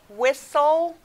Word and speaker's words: whistle: under the t because you don't hear the t it's silent like in the word whistle you hear the s s-l-e there aren't a lot